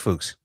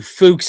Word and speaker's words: Fuchs: How do you say his last name? Jason Fuchs? Let's go with that. I think it is pronounced Fuchs. I don't give two Fuchs if I'm wrong.